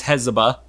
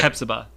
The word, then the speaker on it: Hepzibah: So that's Hezbollah. Hezbollah, okay. Hepzibah.